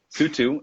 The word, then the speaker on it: Sutu: know what you think oh my goodness well sue too it's been a pleasure am i pronouncing your name correctly by the way because